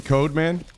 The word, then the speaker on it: Codeman: Okay, what is it actually code, man? Or do you still want it to be pronounced cod, man?